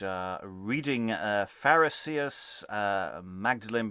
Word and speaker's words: Magdalene: reading uh pharisees uh magdalene but we'll probably be pronouncing it as maudlin and all the disciples